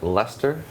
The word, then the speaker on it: Leicester: doing our Dead Man tournament at ESL in Leicester.